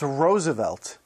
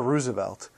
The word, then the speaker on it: Roosevelt: and yes it's pronounced roosevelt and never roosevelt you see teddy liked to pronounce it the same way as his favorite flower the rose sagamore hill is now